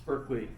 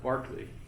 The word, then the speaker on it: Berkeley: It's Berkeley if you're talking about the university, and not Barclay.